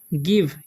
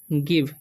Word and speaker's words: गिव: देखिए SHALL इसे हम पढ़ते हैं हम लोग सेल, ठीक है, आई गिव इसे पढ़ते हैं हम लोग गिव, गिवे नहीं पढ़ना है, ठीक है, हिम द फोन।